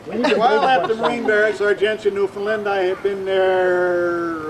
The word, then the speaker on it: Argentia: Argencia, Newfoundland, is spelled just like Argentina. It's not, it's just it looks like it. So anyway, because of John Aldridge, I went to Argentia, Newfoundland, and I met this lovely lady.